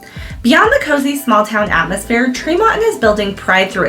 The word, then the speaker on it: Tremonton: I know it's spelled Tremonton, and a lot of people pronounce it that way, but it is Tremonton, and that's one of Utah's hidden gems up north.